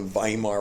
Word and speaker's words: Weimar: democracy something called the weimar republic pronounced like via marvin spelled with the wwei mar the weimar was distrusted